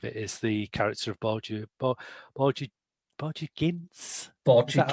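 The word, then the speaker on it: Borgia Ginz: I mean, I think the key indicator of it is the character of Borgia Gintz. Is that how we pronounce it?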